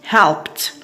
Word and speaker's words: helped: Okay, helped we have the sound p, so the pronunciation of ed here is t, helped.